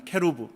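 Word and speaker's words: כרוב: 됩니다.이 그룹이라고 하는 그룹들에 해당하는 히브리어 원형은 케루브라고 하는 히브리어의 단어입니다. 케루브 그룹. 그리 한글 성경은 히브리어를 그대로 소리 나는 대로 발음한 것이죠. 그룹들.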